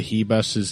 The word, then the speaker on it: Ribas: that I'm pronouncing Amanda Ribas' name. Ribas. A lot of times I try to sort of straddle the line between a s sound and a sh sound and hope that I'm kind of stumbling on the right pronunciation.